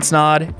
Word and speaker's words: Snod: My name is Snod. It rhymes with odd, and we'll catch you in the next video.